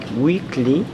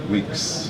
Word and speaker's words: Weeks: Um, weekly is your last name, right? Weeks. Weeks. I mean weeks. Yeah, not weekly.